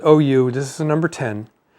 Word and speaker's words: Auriou: that's how it's pronounced you see how it's spelled but it's pronounced oh you this is a number 10.